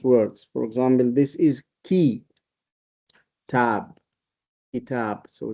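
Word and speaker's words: كتاب: For example, this is key tab. Kab. So this is calf has got a kasa under it. So we pronounce it key not c.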